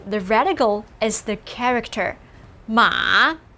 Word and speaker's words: 马: And sure enough, the radical is the character 马. The same syllable 马 as 妈, just a different tone.